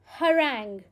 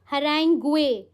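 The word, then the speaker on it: harangue: our next word is हरंग कैसे pronounce करेंगे हरंग इट्स नॉट हरेंग नो इट्स हरंग ठीक है प्रोनाउंसिएशन अगेन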